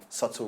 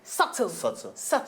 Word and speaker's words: subtle: In a very, very subtle way. Subtle. The B is silent.